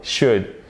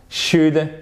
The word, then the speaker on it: should: Donc, c'est la même chose ici, c'est comme would, c'est comme could, would, on ne prononce pas le L et ce sont des ou courts, should. should, should not, shouldn't.